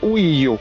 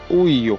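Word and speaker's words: Ohio: laissé une trace indile ça se dit au io prononciation internationale au io donc au io au ça vient de l'algonquin de donc des awou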